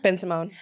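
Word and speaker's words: Bensimon: Ben Simone.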